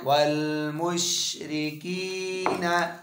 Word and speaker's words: والمشركين: كذرياكي वल मुशरिकी والمشركين नून जबरना نون زبرنا वल मुशरिकीना والمشركين मुश कलकला ना मुशरिकीना مشركين आगे फा